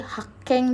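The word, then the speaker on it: 発見: Nah di sini ada haken ya, ini kanji N3 sih, Hakeng dibacanya Hakeng di sini artinya penemuan desu ne.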